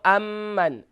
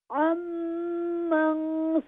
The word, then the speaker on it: عمن: no amman. عمن سواک. عمن سواک.